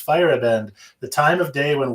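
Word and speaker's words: Feierabend: uh name but yeah oh it says on here pronounced fire abandoned i didn't even read that right on the label it says pronounce firebend the time of day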